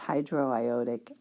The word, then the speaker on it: hydroiodic: end it up with acid so this is pronounced hydroiodic acid h 2 s are with hydro because